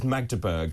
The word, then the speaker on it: Magdeburg: the latest here uh this is magur I've been corrected in my pronounce pronunciation 68 people injured 15